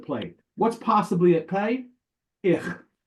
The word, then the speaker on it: ich: Ich. Ich is the German Yiddish word for I. Ich. Ich. Yeah. Okay. Not quite like fish, but ich.